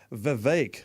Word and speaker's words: Vivek: Rama Swami's first name he's insisting it's pronounced Vivek like in cake so the vague the